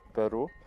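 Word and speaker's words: pwru: At Isovalent, we built a Linux kernel networking packet tracer called Packet Where Are You, or pronounced Peru.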